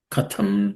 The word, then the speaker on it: katham: Katham in that the second letter th is aspirated.